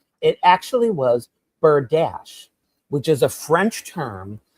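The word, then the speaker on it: berdache: It's B E R D A C H E. Bird dash.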